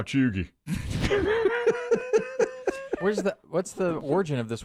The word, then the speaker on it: cheugy: Chuggy.